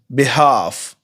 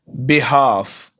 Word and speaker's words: behalf: Next, बिहाफ। बिहाफ इसमें L silent है।